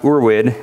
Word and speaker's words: Urwid: in curses does a little differently urd is pronounced urd it's German for ancestral so it's basically ancestral